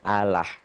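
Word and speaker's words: الله: tipis atau kurus yaitu apabila lafadz Allah didahului oleh huruf yang berharakat di bawah kasrah mengucapkannya tipis sehingga tidak sampai memenuhi mulut ketika mengucapkannya dengan kata lain bunyinya a key saudara kita pengucapannya Allah agama lain agama Islam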